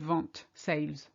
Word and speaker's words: vente: And then I realized they mispronounced the vent with, they pronounced the T, they put an E on the end. So I heard vente, sales. So really be careful with that vent, wind, vente, sales.